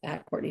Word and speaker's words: Courtenay: And my name is spelled C O R T E N A Y. Court. Um so, Courtney LA. And then Blue Sky is just Courtney.